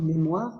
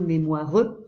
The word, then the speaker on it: mémoire: muet, comme moire ou mémoire, un E qu'on prononce pas, on ne dit pas moireux, mémoireux, il y a un E muet.